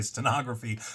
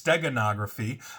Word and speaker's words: steganography: I pronounce that right I always say stenography but it's steganography um and so it's